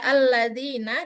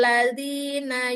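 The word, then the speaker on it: الذين: Ya, kan tidak mungkin membacanya ladzina yu'minu, itu tidak mungkin. Makanya itulah gunanya hamzah wasol. Alladzina yu'minu. Ya, itu dia.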